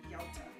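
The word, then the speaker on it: yautia: It's spelled Y-A-U-T-I-A, Yauta.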